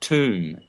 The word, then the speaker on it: tomb: Tom, the atom, when you put a B, a silent B on the end of Tom, you get tomb.